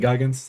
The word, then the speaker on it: Goggins: Is it Goggins? That's what his name's pronounced.